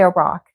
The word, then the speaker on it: Iraq: southern Iraq Southern Iraq now how do you say Iraq do you say Iraq Iraq it's further back Iraq Iraq rather than Iraq Iraq should be yeah Iraq Iraq okay